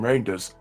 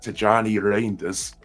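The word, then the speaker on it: Tijjani Reijnders: Someone told me, "No, it's Rinders. Stop saying Reinders." So, I switched to Rinders. But in the end, I think it's like Tajjani Rainders.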